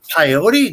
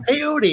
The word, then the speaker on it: peyote: I'm like What's that the students were like pyote no it's pronounced peyote you know it's like